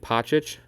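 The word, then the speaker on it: Pocic: their linemen in both Bonio, Wyatt Teller, and Pochic, that's how you say it, are all free agents.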